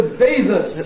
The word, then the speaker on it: bathers: Morning to bathers. To bathers, the stress on the first syllable, of course, not the, but the.